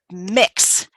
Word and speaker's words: Mx: of oh and then the honorific for non-binary is mix mx um so if you ever see that um that's how you pronounce it that's what it